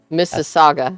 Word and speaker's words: Mississauga: swag ago miss yeah mississauga it's a saga that's how you pronounce that gary thanks for the